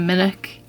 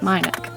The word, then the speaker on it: Minack: uh the minich theatre i've changed my pronunciation of it a few times i started by saying minik then i decided that it was wrong because i heard someone else say it my nick but then the lady